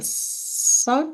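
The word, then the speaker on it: Salk: spend the post-doctoral time at MIT and the Su Institute is that how you pronounce it yes great um and then joined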